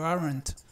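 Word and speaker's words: aren't: contrara que es you arent noten que aquí Este esta e de arent se pronuncia pues no es una e igual que la que pronunciamos en en español es una e más relajada y y aquí se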